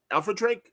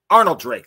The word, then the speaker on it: Arnold Drake: he interviewed jose luis garcia lopez wow uh alfred drake uh dude patrol creator am i saying it right or is it arnold drake thank you man see there you go there's